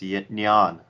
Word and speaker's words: Nyan: one minute there's a Nyan cat oh it's called pronounced neon yeah whatever you pronounce it